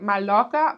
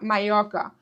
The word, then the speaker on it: Mallorca: Double L was like Y. So, not Mallorca, Mallorca.